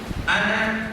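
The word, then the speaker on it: أنا: saya dalam bahasa Arab tulisan ana itu panjang tapi baca jangan panjang. Ana jangan begitu bacanya apa? Ana itu walaupun tulisannya panjang kalau baca dibaca panjang jadi lain lagi nanti jadi ada wul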